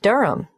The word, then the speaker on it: Durham: at one uronga Street Durham how do you spell Durham d-u-r-h-a-m of course I should know that but it's just one of those names that sounds quite different from the way you spell it it is confusing I've